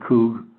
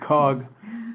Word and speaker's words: COOG: it, they call it COOG. I've been calling it COG, but they call it COOG, so I will try and correct myself from now on.